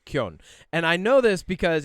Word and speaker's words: Keoghan: That's the Gaelic way, the proper way. However, if you're American, right, you can, because we make those hard G's, you can say Keoghan, right? So there's Keoghan, but it's Keoghan.